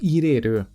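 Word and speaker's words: 入れる: A segunda é a leitura i. I usada no verbo irer.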